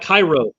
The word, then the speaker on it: Cairo: Like we have a Ponce de Leon Avenue, and we got Cairo or Cairo instead of Cairo.